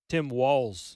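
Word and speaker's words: Walz: scenario with Harris picking uh how do you pronounce his name Tim Walls wall like the walls spelled w LZ okay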